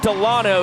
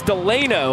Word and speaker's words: Delano: Delano, the Callahan, Florida native, has been called Garrett Delano his entire career in Banana Land, and it just came out last week that the proper pronunciation is Delano, although he couldn't care less.